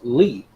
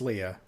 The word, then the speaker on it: Lea: I thought it was Lee because there's no H at the end. It's Leah.